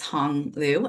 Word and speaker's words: Honglu: So, my name is Honglu, uh, pronounced like Hong Kong.